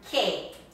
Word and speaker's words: que: And that is when it comes after a Q, as in the word que, what? Que. Or the word quien, who. After a Q, then the U in Spanish is silent.